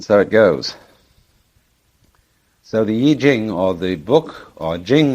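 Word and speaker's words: I Ching: book of changes called the Y Jing not the Y Ching I'm afraid that the way that we romanize Chinese words uh Bears very little resemblance to the way they're pronounced uh that's because the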